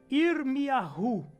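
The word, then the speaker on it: ירמיהו: Jeremias, a pronúncia é Irmiyahu. Nossa, bem diferente.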